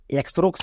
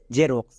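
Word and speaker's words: Xerox: এক্স উচ্চারণ হবে না এক্স এর জন্য বর্গীয় জ উচ্চারণ হবে কেন দেখো এক্স এর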